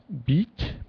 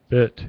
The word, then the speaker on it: bit: like little and bit you say like beat beat but it's bit it's a short bit it little even